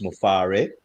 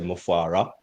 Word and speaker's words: Mufare: It's Ash Mufare. That's the right pronunciation. Yes, some most people, even leaders, say Mufara, but it's EH, not AH. So it is Mufare.